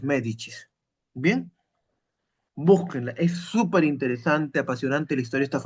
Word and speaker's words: Medici: Ya, Medicis se escribe, se pronuncia los medichis.